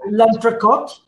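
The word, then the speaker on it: L'Entrecôte: And so we know that, am I pronouncing it right? Lantracot? That's correct. Yeah, very good.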